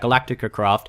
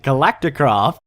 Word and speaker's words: Galacticraft: I don't like about Galactica craft I did it again I said it wrong again galacticraft hello ladies and